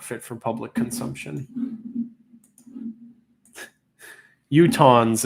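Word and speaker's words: Utahns: Utons is how you say it. Utons. Utans. I am from Idaho and been to Utah many times. Is it Utons? Like utens. Okay. So, it is utons.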